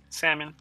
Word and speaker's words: salmon: how I say what salmon salmon I told you Falcon what the are you talking about salmon salmon it's not salmon it's salmon what are you talking about the is silent I told you it's